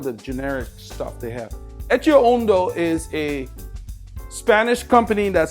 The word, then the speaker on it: Etxeondo: Ettoundo is a Spanish company that sponsors um the movie star team. Let me get one of their generic shorts right here. Okay, is pronounced etchio uno like e c.